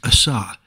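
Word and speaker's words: עָשָׂה: brand new whereas the word for made is pronounced Assa and means not new but remade or made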